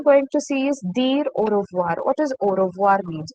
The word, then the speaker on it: au revoir: will use this word au revoir. AU. O AU is pronounced with the sound O.